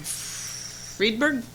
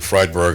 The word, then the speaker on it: Freidberg: move on from there friedberg did i say it right i didn't good evening madam mayor and council my name is freidberg a long time resident